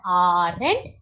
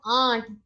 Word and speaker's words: aren't: time it is not our end but it is Aunt remember Auntie your auntie your uncle so you will pronounce uh aren't as aunt aunt is the right